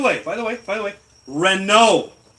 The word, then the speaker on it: Renault: person Renault the T is silent because it's French yes does that have